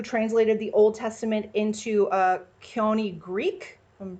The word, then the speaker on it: Koine: And then the Septuagint translators, those are who translated the Old Testament into Koine Greek, if I'm pronouncing that right. Koine? Koine, thank you.